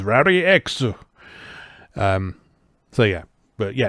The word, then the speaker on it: Rally-X: believed then the actual the actual original japanese pronunciation of rally x is rari x um so yeah but